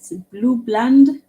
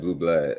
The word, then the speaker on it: Bland: Yes, and can you confirm it's Blue Bland, BLAND? Yeah, that's correct. Okay. Bobby Blue Bland. Yeah, I said it wrong. I said Blue Blood.